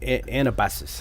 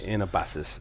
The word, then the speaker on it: Anabasis: the Greek uh anabus anabasus. I can never pronounce it right. An AA ba s I s for everybody else. Anabasis.